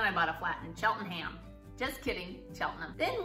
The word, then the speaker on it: Cheltenham: ham that's the trick whenever you see ham at the end of a placing don't say ham we're gonna start with our favorite ham which is the place our plan is Shulman Shelton them it's spelled like Cheltenham don't say Chillingham it's Cheltenham and then you've heard of